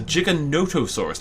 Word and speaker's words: Giganotosaurus: years Giga for example used to call Giganotosaurus for a long time but no it is a giganotosaurus ladies and gentlemen Giganotosaurus right so that kills around